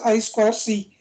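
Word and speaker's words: I²C: The inter-integrated circuit bus I square C pronounced as I square C is a synchronous for bidirectional half duplex two wired serial interface bus.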